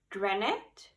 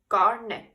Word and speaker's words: garnet: You have the granite, I think it's how you pronounce this red stone. Garnet, no, it's garnet.